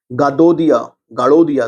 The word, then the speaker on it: गडोदिया: 1930 में उत्तराखंड में गाड़ोदिया समझिए, गडोदिया पढ़ लीजिएगा, प्रोनाउंसिएशन देख लीजिएगा, गाडोदिया स्टोर की डकैती कांड हुआ जिसका नेतृत्व भवानी सिंह ने किया था।